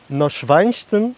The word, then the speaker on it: Neuschwanstein: on se retrouve pour la visite du château neuschwanstein normalement ça se prononce comme ça il est juste derrière moi